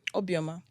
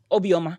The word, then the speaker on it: Obioma: so how do you say your last name obioma obioma okay you see I got that okay so